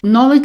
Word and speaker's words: Nollaig: Just listen very carefully, particularly to the Nolig part of it. So it's Dade na Nolig. Nolig. It's quite different from Nolig. You hear the difference?